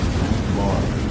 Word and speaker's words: Tranquebar: Tarangambadi, formerly Tranquebar, Danish Tranquebar, pronounced Tranquebar, the town of Mayiladuthurai district.